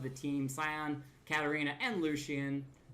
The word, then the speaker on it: Lucian: Sion, Katarina, and Lucian. Lucian? Man, I am just off on pronouncing characters' names today. Lucian. It's Luckian. Luckian.